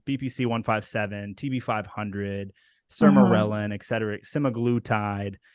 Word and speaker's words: Sermorelin: Sermorelin. Right, say it Sermorelin. again. Sermorelin.